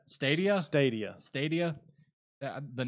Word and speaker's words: Stadia: That's how it's pronounced. Stadia.